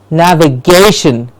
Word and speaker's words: navigation: use a computer, is navigation. And this is simple because we had said earlier, the syllable before the shin generally gets the stress. So the syllable before shin here in this word is gay.